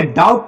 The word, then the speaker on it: doubt: अगर बी के तुरंत बाद टी आता है, बी के तुरंत बाद टी आता है तो उस समय बी साइलेंट होता है। जैसे यहां पे DOUBT, देखो बी के तुरंत बाद टी आया, जब बी के तुरंत बाद टी आया है तो उस समय बी साइलेंट रहता है, बी को पढ़ा नहीं जाता।